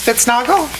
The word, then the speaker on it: Spitznagel: I pronunciated it just like it looks. Spitznagel?